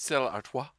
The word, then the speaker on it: Stella Artois: Stella Artois.